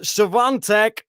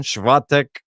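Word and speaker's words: Iga Świątek: It is Iga Swiatek versus Karolina Pliskova.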